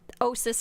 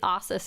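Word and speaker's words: Ossus: because regional dialects anyway, like Osis or Ossis. Technically Ossis is the canon way to say it based on some old audiobooks, but Osis just sounds so much better.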